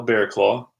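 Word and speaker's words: Barraclough: face the top father Kyle bear claw that's how you pronounce that name and it asked me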